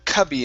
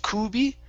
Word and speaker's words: cubby: we have the word cubby instead of Kuby it's C Cubby Cubby okay